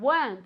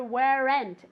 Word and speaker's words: weren't: told about it again weren't okay I never ever ever want to hear wear end it's just one syllable why weren't you told